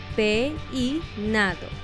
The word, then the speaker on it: peinado: En tres sílabas, peinado, o en cuatro sílabas, peinado. Piénsalo un momento. La respuesta correcta es peinado, en tres sílabas.